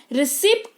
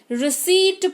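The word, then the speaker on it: receipt: रिसिप्ट नहीं रिसीट पढ़ते हैं यानी कि रसीद जो आपको मिलती है, कुछ शॉपिंग वगैरह करते हो तो जो आपको मिलती है ना रसीद, उसको अंग्रेजी में रिसिप्ट नहीं रिसीट कहते हैं।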